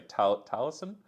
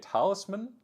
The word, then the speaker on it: Taliesin: That was the loco that was running with, I keep mispronouncing when I say Taliesin. I kept calling it Talisman, like Talisman.